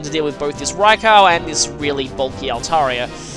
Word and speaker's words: Raikou: it's right for Michael I used to pronounce it right coupe but that's not how to pronounce it all raikou has very good special